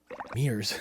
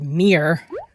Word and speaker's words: mirror: Mirrors. My wife would not like that pronunciation. It's mirror, not mere.